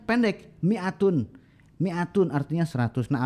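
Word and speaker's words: مائة: Kita membacanya pendek, mi'atun. Mi'atun artinya 100. Nah, alif di situ ya tidak ada fungsinya.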